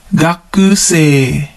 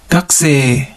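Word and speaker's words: 学生: Gakusei. Gakusei. Notice how we don't pronounce the U in the ku syllable.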